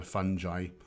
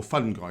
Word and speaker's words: fungi: a plant food they're a fungi or fungi you can pronounce it either way um jay wills how